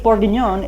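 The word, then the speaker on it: bourguignon: known French dishes come from right here beef borgon is how you say a burgundy style stew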